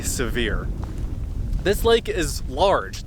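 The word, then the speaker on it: Sevier: called severe lake and it's spelled like severe but I believe people say severe this lake is large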